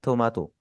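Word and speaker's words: トマト: इसी तरह टोमेटो को हम क्या बोलते हैं? थोमातो।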